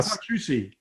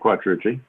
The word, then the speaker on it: Quattrucci: Okay, and now obviously you hear the difference in the way we pronounce our last name. Just a little background. Our entire life it was Quattrucci. Wrong. And then somehow, I think after we saw The Godfather, we changed it to Quattrucci.